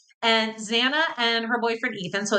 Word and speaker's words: Xana: Ethan and Xana, and it is Xana, guys, like Lana. I know a lot of people pronounce her name wrong, but it is Xana.